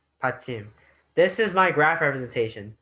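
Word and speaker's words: 받침: It's a consonant placed at the bottom and pronounced at the end in the Korean syllable block. It makes Korean writing system very unique. Pachim means support or prop because it supports other letters from below.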